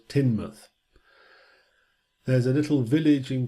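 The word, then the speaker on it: Teignmouth: looks like it should be pronounced tain birth pronounce Timnath there's a little village in Cornwall on the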